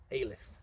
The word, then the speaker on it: Alyth: And we both agreed it sounded like we were saying Alice with a lisp. Anyway, we found out how to pronounce it by the locals, and it's indeed Alyth.